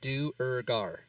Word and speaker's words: Duergar: Just say it in its 3 parts by looking at how it's spelled. Duergar.